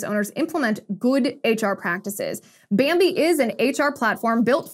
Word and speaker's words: Bambee: Bambi is an HR platform built for you, for